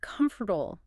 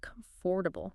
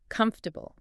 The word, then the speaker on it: comfortable: It looks like comfortable. But we usually squash it together, don't we? We do. Native speakers usually say comfortable, 3 syllables.